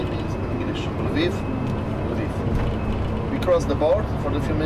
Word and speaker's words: Lviv: Right now we're going to the Lvov. Lvov, I know how to say it in English. Lviv.